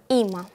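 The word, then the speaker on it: אמא: На иврите звучит как има и пишется достаточно просто. Всего две буквы. Алеф, мем, алеф. Читается има.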